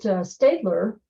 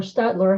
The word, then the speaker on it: Staedtler: We know for sure that Staedtler, or Stadler, however you want to pronounce it, the German company, they in 1834 for sure had their first colored pencils available.